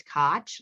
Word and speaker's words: Koch: And I just tell people, look, it's Koch, like scotch, the tape or the drink, whatever you choose.